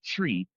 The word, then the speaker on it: Twi: TWI pronounced like tree tree. Tree tree.